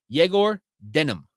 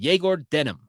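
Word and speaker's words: Egor Demin: how uh Travis who speaks Russian says you pronounce eigor Demon's name it's actually jagor denim that's what he said jagor denim that's how you pronounce his name correctly he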